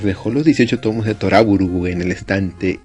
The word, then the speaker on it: To Love Ru: Hay un curioso juego de palabras entre el título de esta comedia romántica y la palabra Trouble, siendo Toraburu la pronunciación que dan los japoneses.